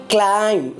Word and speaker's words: climb: the hills this is climb not climb B is silent later so we have